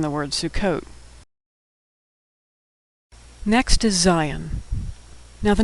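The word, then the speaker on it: Zayin: It doesn't even start with the letter Zion. Zion makes the sound of Z as in zero.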